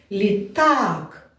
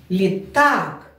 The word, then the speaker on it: літак: Давайте перевіримо, на який голосний стоїть наголос в цьому слові. Літак. Літак. Правильно. Наголос падає на другий склад на другий голосний звук.